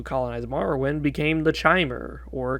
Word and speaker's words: Chimer: after all because um you have something in your stomach in your intestines called chyme and it's pronounced like that kind even though it's